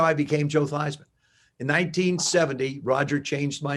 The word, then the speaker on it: Theismann: is we're going to change the pronunciation of your last name from thiesman to theism to ryan with eisen because we think we